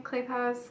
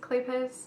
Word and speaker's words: Kleypas: some of Lisa Kleypas it's how you say her name clay paws Kleypas I read some of